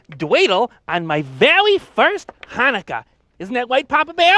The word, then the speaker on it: Chanukah: telly um it's pronounced hanukkah you know with uh with more of a ha ha like that no more more in the back of the throat actually boys either way